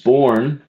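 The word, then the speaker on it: bourne: of time to that undiscovered country from whose born no traveler returns. Born is spelled B O U R N E.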